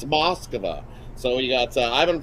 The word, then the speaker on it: Moskva: prosvetov um from uh moskva uh i i i didn't know that i was we were always called to moscow i guess uh we've been pronouncing it wrong it's over it's moskva so we got uh